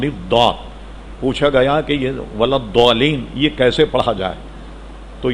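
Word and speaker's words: الضالين: نے یہ بتایا کہ اس کا تلفظ زال سے ملتا ہوا نہیں، ولا الضالین نہیں ہے، ولا الضالین ہے، ولا الضالین، یہ جو دو ڈاڑے ہیں اس پر زبان کی ایک طرف کو لگا کر نکالا جائے، ولا الضالین۔ جب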